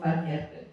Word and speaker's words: Van Heerden: So Sis, by the way, guys, I was practicing the surname before we started this, so I have to say it right. I am here chilling with Van Harden.